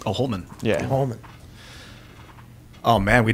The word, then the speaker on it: Holman: The Homan? Homan Rule. How do you spell that? H-O-M-I-N, is it? H-O-L-M-A-N. Oh, Holman.